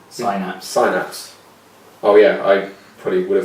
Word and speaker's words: Synapse: I think it's Frozen Snaps Prime? Synapse.